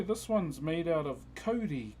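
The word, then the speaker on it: kauri: So uh yeah, this one's made out of Cody.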